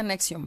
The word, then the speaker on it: NXIVM: una investigación sobre este grupo que se llama nexium se pronuncia anexión pero es en xv y latina m este